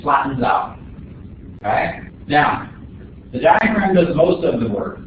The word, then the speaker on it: diaphragm: Down here at the bottom, we've got this umbrella-shaped muscle that's called the diaphragm. Actually, the G is silent. It's called the diaphragm.